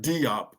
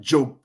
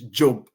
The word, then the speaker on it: Diop: But in the Wolof, his name is actually pronounced Diop. It's Diop. Cheikh Anta Diop. That's how it's pronounced in Senegal, not Diop.